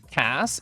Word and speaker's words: Kass: are so hot okay Cass it rhymes with brass well I don't think